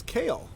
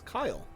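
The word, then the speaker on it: Kael: to review for today is kale or as i've been recently told to pronounce him as kyle hi rockstar are you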